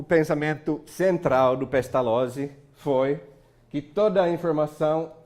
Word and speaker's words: Pestalozzi: Lá a gente pronuncia Z de um jeito muito esquisito. Lotte. Pestalozzi.